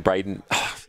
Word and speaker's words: Braden: I commentated a match with him yesterday, and I kept getting every second time I'd say his name, I'd say Brendan instead of Braden.